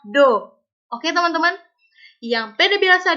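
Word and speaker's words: ∂: Nah, tapi yang bikin uniknya adalah PD biasa ini pakai huruf D, sedangkan PD parsial ini pakai huruf Latin, tapi bukan dibaca D lengkung, dibacanya adalah Do.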